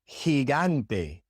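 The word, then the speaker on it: gigante: When the G comes before an E or an I in Spanish, it is soft. That's why it is soft in heante and in peno because it comes before I and e respectively in those words.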